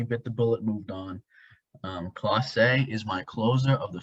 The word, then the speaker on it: Clase: I will say, I'm fairly certain it's pronounced Clase. Clase, okay.